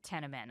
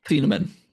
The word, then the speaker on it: Thieneman: What do you think of Bear Alexander and Dylan Teneman? I'm pronouncing that correctly, right? Thieneman.